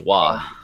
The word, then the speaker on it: Roy: cup all right school actually it's pronounced like the hockey player it's wha yeah wha he's French waz our bra hello